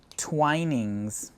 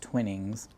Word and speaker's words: Twinings: Twinings, perhaps pronounced Twinnings.